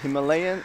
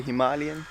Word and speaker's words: Himalayan: Americans say Himalayan and other people say Himalayan. So It's Himalayan.